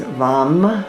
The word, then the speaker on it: vam: The one syllable Sanskrit mantra is vam with a v. Vom. V. Oh, vom.